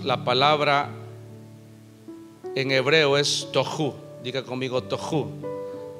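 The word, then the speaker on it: תֹהוּ: Y cuando habla de caos, la palabra en hebreo es tohu. Diga conmigo tohu. Pero el hebreo es gutural. Se pronuncia con la garganta.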